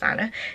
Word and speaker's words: Anneh: is by Anneh Fletcher, and Anneh is spelt really unusually. I think it's pronounced Anneh. It's A-N-N-E-H, but I will leave links to the pattern in the down bar as well.